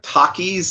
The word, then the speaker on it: Takis: that makes sense so i guess uh takis is the correct pronunciation i'll have to uh